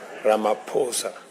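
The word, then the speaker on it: Ramaphosa: He just explained to me that uh the correct pronunciation is not what everybody else has been saying. It is Ramaposa.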